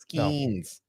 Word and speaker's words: Skenes: Skeens.